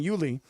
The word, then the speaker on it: Yuli: I said Uli rather than Yuli.